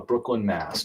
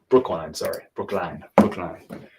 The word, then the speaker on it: Brookline: We're going to Brooklyn, Mass, John. Brookline. It's been a while since I lived up in the Northeast. You pronounce stuff differently. Brookline, not Brooklyn.